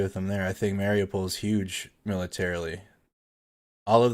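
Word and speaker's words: Mariupol: to the east there's mario pole i'll try to say it right eventually oh i've been saying it wrong for weeks now apparently mario paul right there's hostile steel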